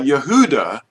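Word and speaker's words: Yehudah: Now Yehuda is the way you say it.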